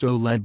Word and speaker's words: OLED: debut of its matrix OLED pronounced OLED by its maker and meaning organic light-emitting